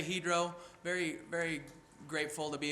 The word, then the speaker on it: Hydro: week with he drove some of you may pronounce that hydro but it's actually he'd row and as we sat